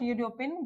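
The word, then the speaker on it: European: यूरोपियन में जो हमारा साउंड हो रहा है कैसा हो रहा है वो? यू रो पियन। ये हो रहा है यू से स्टार्ट।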